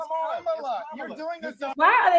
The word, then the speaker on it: Kamala: It's Kamala. You're doing this. Why are they so focused on how somebody pronounced this lady name?